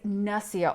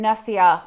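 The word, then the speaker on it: nasya: the list of sort of nasal care is nasia oil and I like to get the one from the ayurvedic Institute it's called supernassia and nasia is spelled n-a-s-y-a and this is a blend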